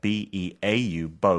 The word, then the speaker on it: beau: Or bow. Bow, that's good. Bow 스펠링 어떻게 돼요? B-E-A-U. 좀 어렵죠. 그 bow and arrow 할 때 그거 아니고 B-O-W 아니고 yeah, B-E-A-U, bow.